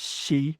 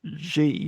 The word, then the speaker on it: Xi: I mean, a good example of that is she of Xiinping, right? You'll often hear that as Xi because people look at the X and think that's an unfamiliar word.